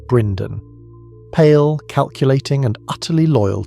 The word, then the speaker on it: Brynden: Opposing him was Brynden Rivers, known as Bloodraven, pronounced Brynden, pale, calculating, and utterly loyal to Daeron II.